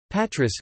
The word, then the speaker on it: Πάτρα: Patras, Greek, Patra, Greek, Patra, Classical Greek and Kathorevisa, Patrai, place, Greek pronunciation, Patrai, Latin, Patrai, place, is Greece's third